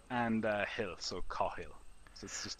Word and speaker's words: Cathal: right and he'll so car he'll this is just the easiest way to do it if that doesn't work